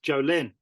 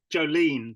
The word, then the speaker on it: Jolyn: name at the start it's Jolin it's I thought that I don't think that you did maybe you did close to Jolene because of the country song yeah that's all people